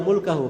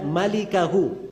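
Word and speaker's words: مالكه: Itu bukan bacanya illa mulkahu. Memang mim, lam, kaf, ha. Tapi bukan mulkahu bacanya. Bacanya illa malikahu.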